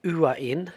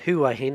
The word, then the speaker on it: Hua Hin: Hey, in this one I'm leaving from Bangkok going to Uain, not Huah Hin as I've been pronouncing it.